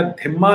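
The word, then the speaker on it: ذمي: तो उनका जिम्मा या धिम्मा लिया, इसलिए वो जिम्मी कहलाएंगे या धिम्मी कहलाएंगे। अरेबिक ढंग से प्रोनाउंस करना है तो धिम्मी होंगे, अगर उर्दू वाले ढंग से प्रोनाउंस करना है तो जिम्मी हो जाएंगे।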